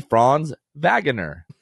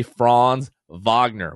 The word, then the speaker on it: Franz Wagner: watching the espn broadcast his name might be franz wagner it might be franz wagner it might be franz wagoner it just depends but they certainly don't know how to say franz wagner which is the correct pronunciation of his name